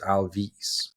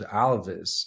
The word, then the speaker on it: Alvys: we pronounce it so most of the English-speaking people would uh tend or lean to pronounce it Alvis Alvis yeah because because uh you have an why right whereas I was telling everyone no we're gonna pronounce it Alvis I want it to sound like Elvis and we we like